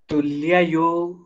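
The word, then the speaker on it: तुल्ययोः: हाँ वैसे ठीक है, बस देखो ये ना तुल्य ना होके तुल्ययो तुल्ययो, क्योंकि दो य है यहाँ, तुल्य बोलते हैं तो केवल एक य का प्रोनाउंसिएशन आएगा, लेकिन यहाँ दो हैं तो तुल्ययोस्ततः तुल्ययोस्ततः तुल्ययोस्ततः।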